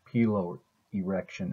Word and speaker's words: piloerection: Okay, now we're going to talk about piloerection. I've heard it pronounced piloerection as well.